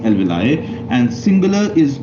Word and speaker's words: alveoli: are called as alveoli in some books the pronunciation is mentioned as elvili but the most acceptable pronunciation is alveoli and singular is called